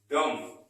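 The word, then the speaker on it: dumb: अब हम देखते हैं हमारा नेक्स्ट है डम। क्या लिखा है? डम। क्या लिखा हुआ है? डम। यहां पर भी देखो इसका स्पेलिंग है D-U-M-B।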